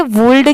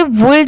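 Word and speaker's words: would: हुआ है तो देखिए इसे वल्ड इसलिए नहीं पढ़ा जाता क्योंकि यहां पर एल लेटर साइलेंट है सिर्फ लिखते टाइम यहां पर डब्लू ओ यू एल डी लिखा जाता है बाकी पढ़ते टाइम यहां पर एल लेटर साइलेंट होता है ठीक है डी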